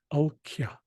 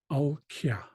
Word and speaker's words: alkya: So the first word, or the first sound here is owl. Owl. And then this second syllable is kya. Kya. So the whole word sounds like al kya. Al kya.